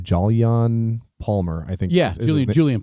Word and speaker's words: Jolyon: to butcher his name, Jolyon Palmer, I think. Yeah, Julian Palmer. It's pronounced Julian. Okay, it's spelled Jolyon.